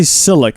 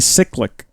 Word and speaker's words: cyclic: hear that I think I always say silic but it is definitely cyclic like cycl I mean